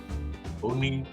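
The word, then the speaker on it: Owney: say is and I'm going to try to pronounce his first name his first name is on o w NE y Oni Madden Oni Madden 1891 to 1965 Madden is credited with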